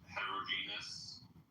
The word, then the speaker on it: heterogeneous: So it's pronounced heterogeneous, and it's pronounced Bangladesh.